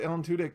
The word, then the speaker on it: Alan Tudyk: Now the other thing that's hilarious about Alan Tudyk is most people don't realize how much shit he's in.